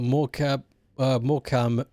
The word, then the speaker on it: Morecambe: Long, long ago when uh Moram, still don't understand how it's spelled Morcam, there's a B in there, was only a young town.